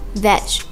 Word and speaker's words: wijd: Actually, the word white is merely a mispronunciation by English settlers in South Africa of a Dutch word, veg, or white.